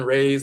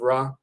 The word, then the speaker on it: Ra: sun god and sun rays they'll say ray instead of rah. They've always mispronounced it.